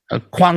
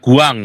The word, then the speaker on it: Guan: Nah, kalau kuang itu bukan kuang itu pakai G ya, G-U-A-N, kuang. Kuang, tapi bacanya kuang. Bukan K, bukan guang, tapi kuang.